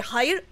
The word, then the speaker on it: hayır: In Turkish, instead of saying no, you say hayır.